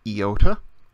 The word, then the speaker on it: iota: The sound is usually like our E, sound, as in ski. Occasionally it can make a shorter I, as in pin. But if you always pronounce it as E, as in ski, you'll be fine. Never does iota make an I sound like the I in mile. It's always the E sound.